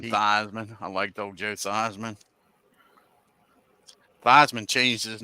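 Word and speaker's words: Theismann: I liked old Joe thyman thyman changed his name so he could win the Heisman you actually his original pronunciation was theeman yeah changed his name so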